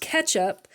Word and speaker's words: catsup: It says, this little cat down here says, it's pronounced ketchup.